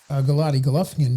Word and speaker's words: Golovkin: Harold, my question is, so we talked a little bit about Golovkin, Triple G, where he might go.